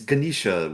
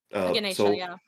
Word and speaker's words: Ganesha: a painting of it's Ganisha with the uh elephant head, right? Yeah. Ganesha. Yeah, Ganesha. Thank you. I just wanted to make the pronunciation correct.